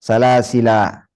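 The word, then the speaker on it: سَلَاسِلَا: Salasila. Jika diwasalkan maka alifnya tidak dibaca. Kalau diwakafkan boleh dengan dua cara. Yang pertama apa? Menetapkan alifnya, berarti dibaca dua harakat. Salasila. Yang kedua membuang alifnya.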